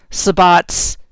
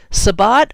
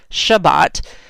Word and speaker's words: Sabbat: So a quick side note, because Sabbat always trips me up. So sometimes I see that word and I pronounce it Shabbat. Shabbat is Jewish.